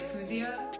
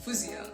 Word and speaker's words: Faouzia: people say Louisiana or they'd be like Fusia it was like not quite the right way to say it and it like bugged me and I don't know why they'd be like oh how do you actually say it and I'd be like fousey and then they would